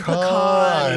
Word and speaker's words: pecan: In, Oh, I'm sorry, pecan. You got to put the emphasis on the right syllable. It has an A in it, so it's pronounced eh. Okay?